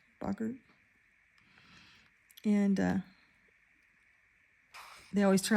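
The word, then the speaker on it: Boggart: this book was when he's facing the Bogart and um or Bogurt. Bogart, how do they pronounce it in the movies? Bogurt.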